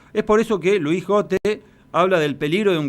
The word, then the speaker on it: Gotte: saludo para todos ustedes Luis tu apellido es gote o got Cómo debemos pronunciarlo como dijiste la primera vez gote porque tampoco Nosotros sabemos